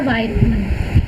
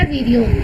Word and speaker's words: virion: जुलता टर्म आता है, दैट इज़ अ वायरोन या वीरियोन। ठीक है, जो भी बोलो आप, both are the correct pronunciation.